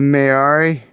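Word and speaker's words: Māori: a couple of things can you say that Mary again for me so I can try to get the pronunciation right it's like what the mayari Mary that's how you say it yeah yeah I love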